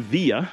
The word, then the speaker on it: villa: they use the term via or way. And in Spanish, they use camino or walk. But simply because the pronunciation of villa is via, exactly the same as